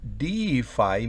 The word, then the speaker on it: deify: Está la rayita encima de la I, así que se pronuncia I. To deify, mire la diferencia. Aquí es deify, significa deificar, volver un dios a algo.